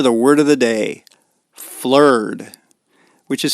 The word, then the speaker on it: flerd: Flur, which is spelled F L E R D.